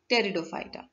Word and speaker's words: pteridophyta: Now ये जो P दिख रहा है ये silent है, इसे हम लोग pteridophyta नहीं पढ़ते हैं. P is silent, so we pronounce it as pteridophyta.